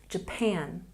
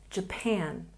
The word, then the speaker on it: Japan: And we have Japan with a stress on the second syllable. Japan, Japan.